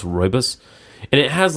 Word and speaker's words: rooibos: It's like Rooibus, I think, but it's pronounced rooibos.